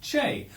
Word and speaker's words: che: It was during this period that he acquired his famous nickname Che, due to his frequent use of the Argentinian interjection Che, pronounced Che, which is used in much the same way as hey, pal, or mate are employed colloquially in various English-speaking countries.